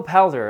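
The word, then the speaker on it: Poulter: is such a bag will palder I that's how you say his name but he had the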